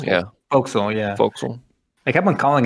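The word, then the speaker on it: forecastle: voxel oh yeah it's it's spelled like four castle that's like the fork smoke folks yeah folks yeah i kept on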